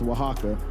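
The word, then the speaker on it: Oaxaca: It's not even pronounced anything how it looks. It's pronounced Waka.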